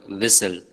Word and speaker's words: whistle: Note how the group of letters STL is pronounced in the word whistle. The letter T is silent.